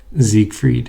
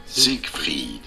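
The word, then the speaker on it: Siegfried: How the Zeke Freed. This is normally pronounced as Zig Freed.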